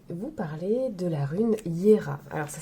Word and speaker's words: Jera: parler de la rune Hiéra alors ça s'écrit Gérard j e r a mais le J se prononce i donc on dit hier elle est la 12e